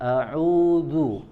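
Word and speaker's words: أعوذ: ya, aku berlindung, ya, jangan sampai kita membacanya menjadi huruf dal. Huruf dalnya jangan dirubah menjadi huruf dal, ya, jangan a'udzu billahi minasy, ya. Kalau kita membacanya dengan huruf dal, ya, maka akan berubah maknanya. Yang semulanya ada ya'udzu artinya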